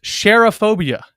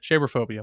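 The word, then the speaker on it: Cherophobia: Sheraphobia. It is pronounced share like shea butter. Sherphobia.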